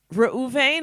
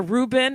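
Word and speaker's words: Reuben: fact if you biblically even the tribes of rauven or ruben in english and gad i guess you'd pronounce it that in english in in hebrew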